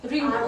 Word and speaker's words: wrinkles: So it starts with W. But we do not pronounce W in this word.